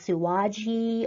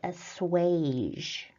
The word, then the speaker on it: assuage: difficult to pronounce and it does not at all look the way that it is pronounced. It looks like it should be pronounced auaji or something. I'm not really sure, but the actual way that it is pronounced is assuage.